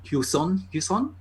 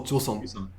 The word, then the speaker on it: Joseon: the gimmick of these Hyuson. Did I pronounce it correctly? Maybe I don't know what it is. What? No, the era that they've come from. Yuson. Oh, Joseon. Joseon.